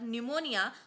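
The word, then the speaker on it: pneumonia: बन जाएगा यहां पर निमोनिया और निमोनिया की स्पेलिंग पी से स्टार्ट होती है तो ध्यान रखेंगे ठीक है न्यू से निमोनिया आ जाएगा पूरा और ह से आ जाएगा हैजा।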